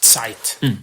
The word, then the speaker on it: Zeit: I mean, like the German word for time is Zeit. Yeah. That has a real ring to it. Yeah, and we could spell it phonetically for the English folks, so TS, I guess.